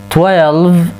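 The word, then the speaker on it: twelve: 12 12. نلاحظ هنا الإي لا تلفظ، وبقية الأحرف تلفظ 12 12.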